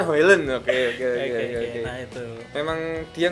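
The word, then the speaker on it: Højlund: Highland. Tulisannya Hojlund ya, Hoyland ya. Bacanya Hoyland.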